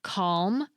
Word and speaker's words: calm: If you're from Britain, you probably don't pronounce the L in calm or palm. But if you're American or Canadian, you might find yourself emphasizing that L sound.